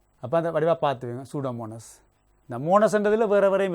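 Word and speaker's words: Pseudomonas: பசிலஸ் agro bacterium சூடோமோனஸ் இந்த சூடோமோனஸ் spelling கொஞ்சம் உச்சரிக்கிறது கொஞ்சம் கஷ்டமா இருக்கும் பார்த்து வைங்க இந்த பி வந்து சைலெண்ட்டா இருக்கு சரியா இந்த இயும் வந்து சைலெண்ட் மாதிரிதான அப்ப அந்த வடிவா பார்த்துக்கோங்க சூடோமோனஸ் இந்த மோனஸ் என்றதுல வேற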